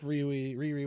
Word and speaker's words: Riri: Is it Riri or Rai Williams? I think it's Riri.